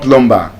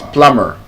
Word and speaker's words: plumber: So it's not plumber, it's plumber. Plumber. Yes. The B is silent because the B is coming after M.